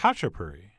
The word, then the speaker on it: khachapuri: which apparently is pronounced khachapuri. And by the way, to you people making up words, if you don't want me to pronounce the K, maybe don't start the word with it.